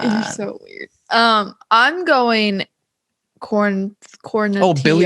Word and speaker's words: Quarantillo: Quarantillo. Oh, Billy Quarantillo. This is no, it's not Tillo. It's Tio. Like how quesadilla is pronounced with a Y.